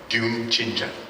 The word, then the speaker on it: 듄친자: 듄친자. Say it again. How do you pronounce it?